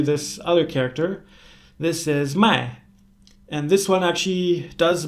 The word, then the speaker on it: 麦: So, lai and mai, they sound kind of similar, but a few thousand years ago in ancient Chinese, they sounded pretty much the same.